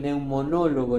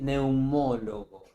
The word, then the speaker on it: neumólogo: El el medio que neumonólogo en el diccionario no existe, es neumólogo.